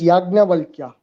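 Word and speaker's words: Yajnavalkya: operation actually the name actual name how we pronounce is yagna valkyria personal perform and actually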